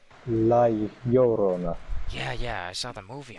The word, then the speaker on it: La Llorona: Yeah, Crusoe, it's La Rona. pronounced La Llorona.